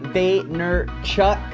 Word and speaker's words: Vaynerchuk: His name is Gary Vaynerchuk, as he likes to pronounce it on his YouTube show, Ask Gary